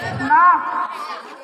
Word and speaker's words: knock: KNOCK, knock. Silent letter K.